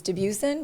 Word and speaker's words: Dubuisson: the English pronunciation is deusen but it is a French last name and it's pronounced J